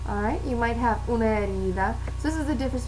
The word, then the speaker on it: herida: Una herida, because the H is silent.